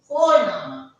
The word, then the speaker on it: Vorname: But remember, we call it as V in German. So the sound of F comes. The sound of F comes. So we call it as Phonama.